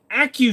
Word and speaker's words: ACCU: These fools were actually pronouncing every letter. Well, the CZ75 ACCU, it's an Acu Shadow, dipshit.